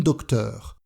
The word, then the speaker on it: docteure: Pour le féminin, on peut aussi dire un docteur, ou utiliser l'article féminin, une docteure, ou encore ajouter un E au nom, une docteure. La prononciation est la même.